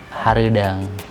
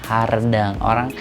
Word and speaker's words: hareudang: Itu kan ada pelafalannya E. Nah, ketika orang biasanya pelafalan E itu lebih ke hardang. Orang di luar Sunda atau orang yang tidak terbiasa ngobrol Sunda, itu akan dia bilang hardang.